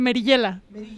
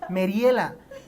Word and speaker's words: Merillela: se pronuncia tu nombre tal cual merillela Sí así Yo decía me tocó escuchar en alguna entrevista que te hicieron Mariela y yo dije pero es merillela no porque pues tiene